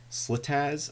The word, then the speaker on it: SliTaz: Linux to live CD called slitz I believe is how you pronounce it it